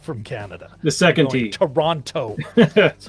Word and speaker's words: Toronto: for toronto uh and notice i do not pronounce the t it's a great way to know you're not from canada the second team toronto toronto the second chapter oronto